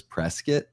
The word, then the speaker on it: Prescott: You know, here in Arizona, there's a place called Well, it's spelled Prescott, but everyone says Prescuit.